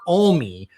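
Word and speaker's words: Alme: I said M and someone from Montana corrected me. It's Kurt Olie had filed and we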